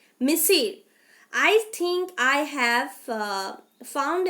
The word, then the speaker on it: monsieur: So Monissieur is a French word which is pronounced as Monsieur, Monsieur.